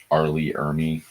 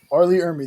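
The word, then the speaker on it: R. Lee Ermey: Arley Ermy. Arley Ermy.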